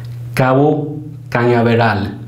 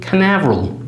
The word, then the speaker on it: Cañaveral: Along the way, he names another geographic feature, Cabo Cañaveral. Cabo being Cape, and kind of do an American pronunciation, Canaveral.